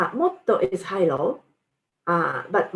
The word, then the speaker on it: も: And adverbials も and もっと。The pronunciation もっと is high-low, but も is low-high.